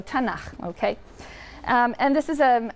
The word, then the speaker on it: Tanakh: also on that sheet Tanakh which is really the letters to and huh and they put little A's in there to make it easy to pronounce because it's hard to pronounce so tena okay and this is